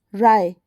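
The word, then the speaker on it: wry: the word Rai mean w r y will be said as Rai how will it be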